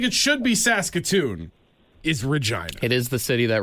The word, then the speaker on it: Regina: The capital of Saskatchewan, while it sounds like it should be Saskatoon, is Regina. It is the city that rhymes with right.